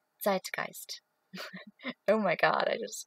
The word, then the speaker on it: zeitgeist: all those words like the zeitgeist which is not pronounced zeitgeist at all it's zeitgeist oh my god i